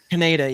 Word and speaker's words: Kaneda: Is it Kaneda? Because I'm going to mispronounce it. Kaneda? Kaneda, yeah.